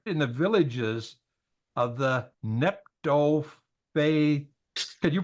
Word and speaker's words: Netophathites: And it says they lived in the villages of the Netophathites. Can you pronounce that? Netophathites? Yeah, okay. Netophathites.